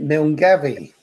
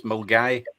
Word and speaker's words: Milngavie: Well, when you look at it, Milngavie. Nope. I didn't think it would be. McGavin. Nope. You'll never get it. There's probably no M in it. It's probably Glenarvan. It's Mulgai. Die fucking Mulgai.